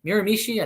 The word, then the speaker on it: Miramichi: that double divisional but Miramichi miramishi I think that's how you say it's in New Brunswick Canada